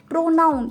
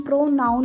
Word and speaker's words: pronoun: प्रोनाउन, इसकी प्रोनाउंसिएशन प्रोनाउन होगी, परनाउन नहीं होगी.